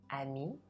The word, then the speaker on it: ami: So unless the word is only one syllable long, E will always be silent when it's at the end of the word. Let's do some example. Ami, drôle.